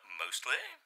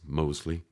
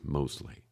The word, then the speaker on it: Mosley: Mosley? It's Mosley. Ah, yes. The T is silent, as it should be. Actually, there's no T. It's just Mosley.